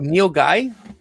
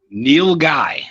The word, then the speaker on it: nilgai: meat but uh wait it's actually called nilgai neil guy yeah it's spelled i